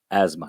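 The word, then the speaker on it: asthma: astım kelimesi biliyorsunuz kullanılıyor İngilizcesi de burada ezma şeklinde telaffuz ediliyor D ile devam edelim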